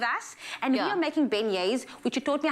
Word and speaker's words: beignets: one uh princess and she makes beignets so that's how i know how to pronounce the book thank you otherwise thank you to disney for teaching you yeah teaching us and the rest of zanzi that it is called beignets so just think